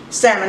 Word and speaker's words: salmon: always get the pink salmon I'm a little bit accelerated the L is silent folks it's pronounced salmon ok now that we